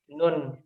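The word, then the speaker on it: نون: Itu bagaimana cara membacanya? Paham. Nah, di sini ada secretnya. Nuhunil. Jadi bukan nuhum nahu, tetapi kita tambahkan nun.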